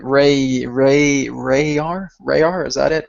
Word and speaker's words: Rayar: And I was kind of going like Rayar, is that it, right? Yes, Rayar, right?